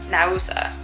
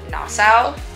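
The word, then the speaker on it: Naousa: Monastery is the beach club, but the town is Nausa. I keep wanting to call it Nassau, but that's in the Bahamas.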